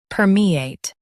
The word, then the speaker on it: permeate: Her, me, ate, permeate.